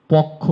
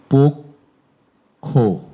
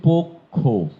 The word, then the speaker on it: পক্ষ: আপনারা অন্তত 95 ভাগ মানুষ পক্ষ বলেন এটির। এটি ভুল। এটির উচ্চারণ হচ্ছে পক্ষ। পক্ষ ভুল। দেখেন, আপনারা যারা ক্লাস করছেন তাদের মধ্যে 95 ভাগ মানুষ পক্ষ বলে থাকেন। সঠিক উচ্চারণটি পক্ষ, পয়কার, ক, ক্ষয়কার, পক্ষ।